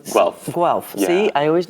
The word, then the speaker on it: Guelph: Let's go back to or how do you pronounce Guelph? Guelph.